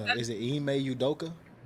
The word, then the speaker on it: Ime Udoka: Is it Ime Udoka? Udoka.